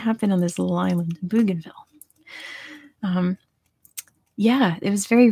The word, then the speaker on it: Bougainville: bougainville yes um by te route tell me how to pronounce that bougainville is its name bougainville is going to be